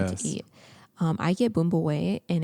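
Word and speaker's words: bún bò Huế: a little bit more so boom boy that's that's how you say it it's about like b u n space b o space h-u-e boom boy and it's more of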